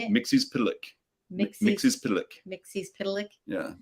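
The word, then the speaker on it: Mxyzptlk: Mixie's Pitalik.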